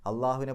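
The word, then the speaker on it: الله: ആ പദവും അള്ളാഹുവിനെ പോലെ തന്നെ ഏകമാണ് എന്നർത്ഥം. ആ ഒരു പദത്തിൻ്റെ ഉച്ചാരണം പോലും മറ്റെവിടെയുമില്ല. കാരണം ലാമിന് ആ രൂപത്തിലുള്ളൊരു ശബ്ദം കൊടുക്കുന്നത്, അള്ളാഹു എന്ന് പറയുമ്പോൾ ലാമിനെ നമ്മൾ കട്ടി കൂട്ടിയിട്ടാണ് പറയണത്.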